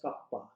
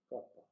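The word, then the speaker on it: κ: conducting is written by k small k and pronounced as kappa kappa this is equal to 1 by rho and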